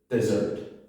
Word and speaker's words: dessert: It's spelt slightly differently, and the word is dessert. Sounds like a bird.